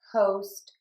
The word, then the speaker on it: host: But there are times, and this is very common, when we have OST, where we're going to say a long O. And that would be in the words moʊst, hoʊst, poʊst, and goʊst.